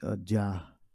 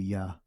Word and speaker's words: Yah: To pronounce the Hebrew words, you wouldn't say, mainly focusing on Yah and Wa. All right, it would be no Jah. It would be Yah.